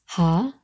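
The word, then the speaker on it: ה: And it can either be pronounced Ha or be silent.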